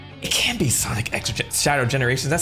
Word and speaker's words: Sonic X Shadow Generations: Sonic franchise now um I think he said it in an interview at one of these these uh these uh Outlets that the X needs to pronounce as X so I'm like okay